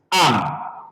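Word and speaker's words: אַם: So, if you're going to pronounce this word now, aleph is silent. So, you're going to start the pronunciation from the con- I mean, from the vowel. So, the vowel is patah. We pronounce it as am.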